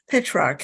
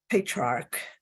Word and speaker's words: Petrarch: so on so patriarch hey shark okay I keep adding an eye there don't follow me okay pitch rock is uh the person